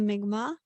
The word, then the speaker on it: Mi'kmaq: So I am 25% First Nations and I come from a tribe called the Mi'kmaq. That's spelled M-I-M-A-Q if anybody wants to look it up.